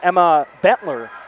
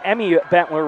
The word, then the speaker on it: Emmy Bentler: might have went off the goalender uh the sophomore number 33 Emma Bentler uh Emmy Bentler rather on that pronunci pronunciation.